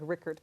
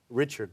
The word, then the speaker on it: Rickard: Or yeah, it's that hard German CH, Rickard.